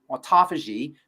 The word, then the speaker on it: autophagy: autophagy aagy fasi pH a f means to eat Auto means self autophagy means self-eating so essentially the the body cleans out all of its cells selfing or autophagy and this is one